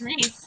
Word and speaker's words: Reese: Or I keep saying Rice because that's how I pronounced it in a book when I was a kid. It's Reese.